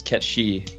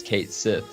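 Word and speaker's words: Cait Sith: legit you know the the japanese phonetic pronunciation is ketchy but you know it's hard not to read as kate sith so yeah uh we'll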